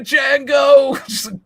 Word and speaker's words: Django: YOU TO DJANGO. YEAH. The D is silent.